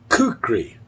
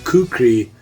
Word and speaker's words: kukri: Kukri, I think, is the correct pronunciation.